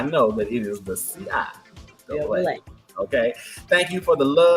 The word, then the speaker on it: CIAA: And the name of the conference is pronounced CIAA. Thank you, because baby, it was the CIA for me.